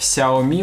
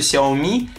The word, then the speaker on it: Xiaomi: которые топят за xia они во-первых не знают что ударение на последний слог Да они не знают